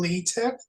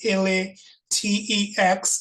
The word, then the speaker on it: LaTeX: So we use a programming language called LaTeX. That's LaTeX, and it's not pronounced latex. It's pronounced LaTeX.